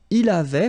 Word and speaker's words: il avait: Il avait, final T not pronounced.